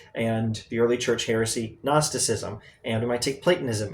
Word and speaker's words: Gnosticism: Some of us have no idea what even Gnosticism is, what Gnosticism even is. Well, Gnosticism, spelled with a G in the front, a silent G, going back to the Greek word gnosko for knowledge.